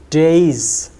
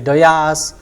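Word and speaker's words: dais: a is in the program which is wrongly pronounced it is days some people say doas some people say d so the correct word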